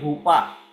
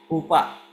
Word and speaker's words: chuppah: की रस्म जो होती है उसको कहते हैं हुपा और उसकी स्पेलिंग है सी एच यू पी पी एच हुपा तो हमने देखा था सगाई की रस्मों को यीशु मसीह ने पूरा किया।